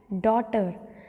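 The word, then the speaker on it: daughter: ठीक है, सो जैसे यहाँ पर हम GH को साइलेंट रखेंगे तो this we read thought, throw, might, night, site, डॉटर. तो यहाँ पर GH वर्ड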